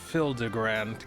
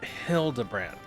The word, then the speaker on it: Hildibrand: Since parting ways, I've searched every alley in Die Bar and Everkeep for signs of this Hildigrand character. It's pronounced Hildabbrand.